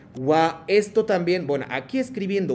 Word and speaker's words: は: Esta función de partícula wa, aunque escribimos ha, cuando escribimos partícula wa y que acompañando al sujeto, entonces siempre cambia la pronunciación, es no ha, sino wa.